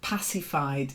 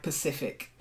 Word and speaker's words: pacified: was next and um pacified is not like Pacific we do say the Pacific but to pacify as the verb so pacified then thatch